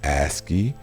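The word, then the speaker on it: ASCII: punctuation and symbols are part of the asy pronounced asy character coding encoding this standard has changed very little since 1960 and it is the foundation of all the commonly used encodings aski stands for American Standard code for information interchange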